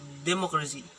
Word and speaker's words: democracy: ig in the word democracy has four syllables like democracy, democracy. The primary stress is put on the syllable ma, and the secondary stress is placed in the last syllable se.